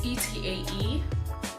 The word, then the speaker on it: TAE: I got this for Valentine's Day for my booski, and this is the TAE, I believe it's pronounced TAE. It's TAE, if you can see it.